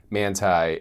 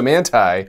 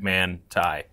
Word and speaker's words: Manthey: the GT3 man uh it looks like it's spelled man that's what I kept saying before they actually heard them I heard them pronounce it and I was like oh I've been wrong a long time yeah yeah so manai yeah it's man yeah like manai and in short manai